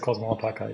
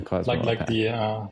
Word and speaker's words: Alpaca: It's just Cosmo Alpaca. Yeah, Cosmo Alpaca. Like the animal. Like the animal. Yeah, like the animal.